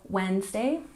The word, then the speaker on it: Wednesday: 20 Wednesday remember we don't say the D in Wednesday this is the day